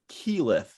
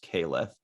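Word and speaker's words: Keyleth: with you guys uh they pronounced her kilif though even though it's announced yeah like it should have been pronounced caliph i'm a nerd for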